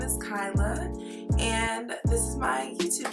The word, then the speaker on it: Kyla: is Kyla, and my name is Kyla, not Kayla. All right, that's kind of one of my big pet peeves when people call me Kayla, because it's literally spelled or pronounced how it's spelled. K-A-I is Kai, L-A is La, Kyla.